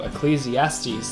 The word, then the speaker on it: Ecclesiastes: Oh, Ecclesiastes. That's how you pronounce it.